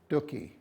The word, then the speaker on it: Stucky: and then Clay St Stucky stookie rhymed with cookie I swear he's hit